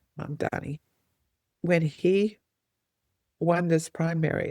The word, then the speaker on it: Mamdani: Like I'm trying to learn how to say his name, Mamdani. Mom Donnie nailed it. Mamdani.